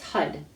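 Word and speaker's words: Har: It's spelled H-A-R, but it's HUD.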